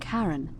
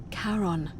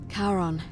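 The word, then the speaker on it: Charon: It's just as you described it, only your pronunciation is a little off. The name you heard wasn't Karen. It was C H A R O N. as in Karon, the fairyman of the dead. Karon, who in exchange for the right coin, helps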